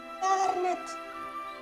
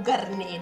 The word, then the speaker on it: Garnet: mettono a giocare garnet o garné Dipende A me piace pronunciarlo per intero garnet Ciao Nick